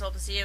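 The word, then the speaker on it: Sulpicia: Like Aro's wife, I'm pretty sure it's pronounced Solpacia, but if I'm wrong, feel free to correct me, okay?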